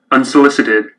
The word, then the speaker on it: unsolicited: It means 1, 2, 3, 4 syllables. Accent is on unsolicited, solicited, unsolicited, Unsolicited. unsolicited, unsolicited, unsolicited. It is in the middle of the word, accent. Unsolicited on the middle of the second syllable.